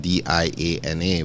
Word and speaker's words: Diana: piece of paper you'd see it spelled D i a n a but it is pronounced Diana why is that it is it is I was born in Budapest and um it's pronounced Diana instead of Diana but in America you know everyone tends to call me Diana okay excellent and um